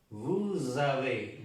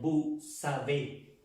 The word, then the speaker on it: vous avez: Vous avez. Vous avez. No vous savez. Porque sería ustedes saben. Vous avez. No vous savez. No es vous savez, sino vous avez.